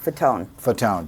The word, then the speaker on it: Fatone: Fatone.